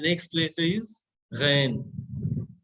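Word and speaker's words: غین: तो गैन हलक के नीचे से, हलक के आसपास से निकालते हैं।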